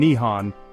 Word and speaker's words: Nihon: The name first appeared in Chinese documents during the 7th century and the Japanese adopted it themselves with Nepon and Nihon both being acceptable pronunciations.